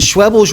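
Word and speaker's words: Schwebel's: And Schwebles rhymes with pebbles.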